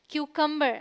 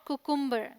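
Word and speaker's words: cucumber: Okay, this is क्यूकम्बर नॉट कुकुम्बर।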